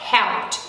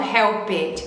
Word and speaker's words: helped: É porque a gente não pronuncia esse E que vai ficar antes do D, tá bom? A gente vai pronunciar helped e não helped, sei lá, alguma coisa assim, tá joia?